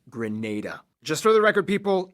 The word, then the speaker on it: Grenada: hey everybody i'm your host barby greece it's pronounced grenada just for the record people yes mayans still